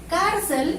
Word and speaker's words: cárcel: Y del mismo modo, cárcel, al separar en sílabas tenemos así, lleva acento ortográfico porque termina en L.